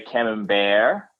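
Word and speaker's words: Camembert: b r t so some some say cam bear like it's French or yeah it's the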